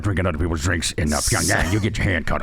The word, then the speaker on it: Pyongyang: When you're not in Vegas and you're in Pyongyang, is that correct? Yeah, it's pronounced Pyongyang. Oh, Pyongyang.